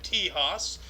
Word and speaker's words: Texas: in the state of T Haas as the Spanish people would say because X is pronounced huh not um but yeah